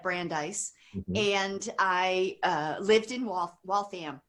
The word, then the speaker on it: Waltham: and I lived in Waltham. Am I saying it right? Waltham? Yeah, Waltham, yes. I know. I think I used to say it Waltham, and then got schooled that it was Waltham, right?